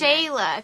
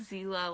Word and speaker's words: Shayla: It's pronounced Shayla. Thank you. Because I'm like... Oh my gosh, I'm sorry. I said like Zila, like Xena. Zila.